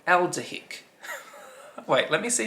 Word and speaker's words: aldehydic: don't even know how to say that word a l d e h y d i c elder hick wait let me see how you actually pronounce that i need to know is this